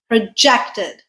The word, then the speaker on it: project: Projected, verb. Or this can be produced with a stress on the first syllable, project.